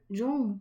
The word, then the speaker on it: Jung: En allemand, la lettre J se prononce Y en français comme dans le yaourt, ce qui fait que Jung s'entend effectivement Jung.